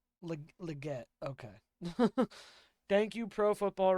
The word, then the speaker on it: Legette: Sorry, Xavier. Pronunciation. Xavier Legette. Legette.